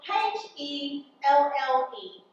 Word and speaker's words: Helle: It's spelled H-E-L-L-E. Oh, I suppose it could be pronounced Helle.